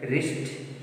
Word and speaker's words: wrist: Wrong, right, wrist, sword, sword. These are the words. In these words, W is silent. Letter W is silent in these four words.